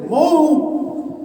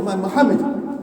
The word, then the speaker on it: Muhammad: and to call it Mo, astaghfirullah. At least in my opinion, that's absolutely unacceptable. Anybody's name is Muhammad, astaghfirullah, many even our youngsters, Muhammad. No, we should learn to pronounce it properly and be proud of the name of Muhammad.